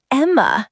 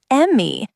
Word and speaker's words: Emma: But my name's Emma, not Emmy. Hello. Are you the Emmy Watson family? Almost. It's Emma, not Emmy.